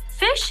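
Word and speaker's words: phish: Fish is pronounced just like it's spelled, which is to say like the word fish.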